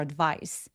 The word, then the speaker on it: advice: I really needed your advice. I really needed your advice. Advice 아니고 advice. Advice 첫 번째 음절은 강세를 주지 않기 때문에 힘을 쫙 빼 주시는게 필요해요. advice.네 조언이 정말 필요했어.